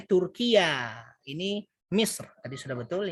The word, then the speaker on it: Turkiya: Ini bacanya Turkiya.